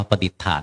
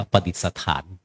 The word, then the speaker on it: ประดิษฐาน: พรุ่ง นี้ อ่าน ว่า ประดิษฐาน ไม่ อ่าน ว่า ประดิษฐาน พจนานุกรม ไทย ทำ ท่า ยัง